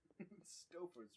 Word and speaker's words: Stouffer's: Stouffer's rhymes with stuffer, right? And stove.